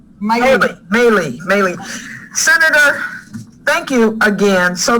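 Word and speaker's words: Maile: Senator Duckworth and her husband, Brian, are the proud parents of 2 daughters, Abigail and Molly. Did I say her name right? Maylee.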